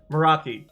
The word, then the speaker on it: Meraki: Meraki, that is the correct way to pronounce it, everyone, by the way.